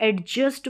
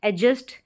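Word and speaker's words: adjust: कि इसको इस को एडजस्ट बोलते हैं एडजस्ट एडजस्ट इसका करेक्ट प्रोनंसिएशन होता है डी यहां पर साइलेंट है रूल के अनुसार एडजस्ट अब इसको एडजेक्टिव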